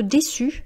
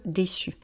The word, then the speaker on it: déçu: Être déçu, alors vous voyez, il y a le C cédille, donc c'est comme si vous prononciez deux S, et le E, lorsque c'est au féminin, reste muet. Être déçu.